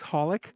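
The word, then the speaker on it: xxxHOLiC: heard that anime xxx holic that's the way i've always oh yes did you know it's pronounced just holic to be honest like honey the i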